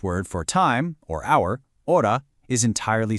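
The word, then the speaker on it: hora: The H in the Spanish word for time or hour, ora, is entirely silent. You literally don't pronounce it at all.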